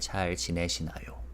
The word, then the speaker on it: 잘 지내시나요: And of course, the very last syllable is yo. That's the ending we put to make a sentence formal and more polite, right? 잘 지내시나요?